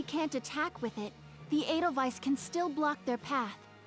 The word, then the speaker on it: Edelweiss: Edelweiss.